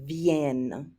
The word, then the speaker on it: viennent: Make sure you pronounce that last one with that hard N sound, viennent.